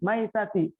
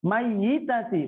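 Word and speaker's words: ميتة: Kalau perempuan as-salatu 'alal maitati, maitati, bukan mayyitati, bukan. Karena kalau mayyitati itu perempuan yang akan meninggal. Tapi kalau maitati perempuan yang sudah meninggal, yang sudah wafat.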